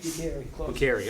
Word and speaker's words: Bucheri: Bucheri, all right. You never know where to go with the hard or soft C.